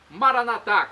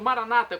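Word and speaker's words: Maranatha: aramaico dialeto de Jesus maranat como dizemos nós católicos ou Maranata como dizem nossos irmãos separados os evangélicos ou protestantes não importa pronúncia o significado é o mesmo vinde Senhor Jesus um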